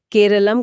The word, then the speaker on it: केरलम: हाँ, मलयालम में राज्य को हमेशा से ही केरलम कहा जाता रहा है।